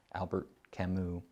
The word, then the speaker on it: Albert Camus: by the name of albert camus that's how you pronounce it it's french albert camus and the classic example